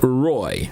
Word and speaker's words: Roi: Thus, Grand Roy is spelled the way it is, ROI, is correct, but pronounced Roy.